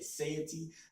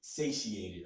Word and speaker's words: satiated: little more satiating okay now I butchered that word one time for in another video with the word I say safety the word the proper pronunciation is satiated okay but it's going to